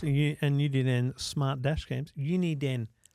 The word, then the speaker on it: Uniden: Uniden. That's how you say it.